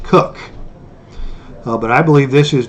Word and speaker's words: Koch: The creator of those games is pronounced K-O-C-H, but that's pronounced Cook.